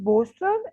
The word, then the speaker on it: bolster: अच्छा सर, 9th वन इज बोस्टर. एल यहाँ पे साइलेंट है.